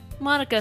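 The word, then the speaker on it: Monika: anime club Shinji mónica now in Japanese her name is probably pronounced mo nica but since I don't know for certain I'm gonna call her what everybody else calls her Monica cuz I'm Merkin oh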